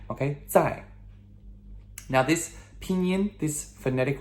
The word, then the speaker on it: 在: So next we have 在. Okay? Z-A-I, and that is the fourth tone, descending tone, that sharp no tone. 在. Okay? 在.